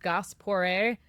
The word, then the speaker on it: Gass Pooré: My last name is pronounced Goss Por. And it's my mom's maiden last name, which is Goss, and my dad's last name, which is Por.